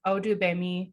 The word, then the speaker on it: Odugbemi: so excited to introduce audubemi did i say it correctly yes you did oh you you did